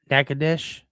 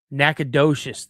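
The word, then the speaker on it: Natchitoches: Oh, you call it Nacadesh or Knack Town. Okay, cool. Thanks for not Nacadocious.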